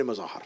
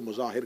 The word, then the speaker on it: مظاہر: حبیب ابن مظاہر, مظاہر کہا جاتا ہے لیکن مظاہر ہے, اس کو مظاہر کہہ دیا جاتا ہے لیکن اصل تلفظ کا مظاہر ہے.